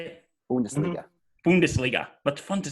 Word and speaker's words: Bundesliga: Bundesliga.